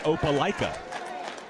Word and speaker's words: Opelika: The town next door is pronounced Opelika, as I understand.